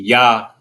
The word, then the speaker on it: Yah: Usually when the Lord's name is used in the name or something like that, it'll be Yah, phonetically spelled Y-A-H, right?